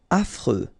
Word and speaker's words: affreux: Affreux. Final X not pronounced. And then you get this freux. Freux.